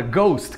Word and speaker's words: ghost: Vamos lá, depois do G, por exemplo, a palavra ghost, que é fantasma, a gente não fala esse H, não sei nem como a gente pronunciaria esse H, não faz nem sentido.